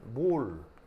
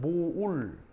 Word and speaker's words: mole: 요렇게 쓰고 읽을 때는 몰 그 다음에 원래 영어 단어로는 mole에요 사실은 그 몰이 아니고요 정확한 발음은 모울 이렇게 발음하는게 좋은데 이게 맞는 말인데 이제 우리나라 이렇게 쓰면